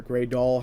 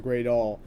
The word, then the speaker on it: Greydoll: you know say it cuz there's two different you know ways of pronouncing it currently because it's two different names it's gry Dale and is a gry doll um so basically different